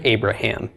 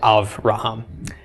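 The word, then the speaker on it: אברהם: Just like Avraham instead of Abraham. Okay, aside from the vowel changes, we say Avraham.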